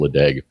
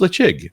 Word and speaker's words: Ledaig: name I was like there's no way that's pronounced leeg so I looked it up it's like it's pronounced leig and I'm like why okay cuz gaic is